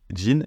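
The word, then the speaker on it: 人: sito derrière le pays ça se lit Jean et ça permet d'indiquer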